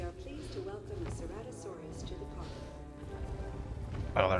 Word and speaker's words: Ceratosaurus: Ceratosaurus.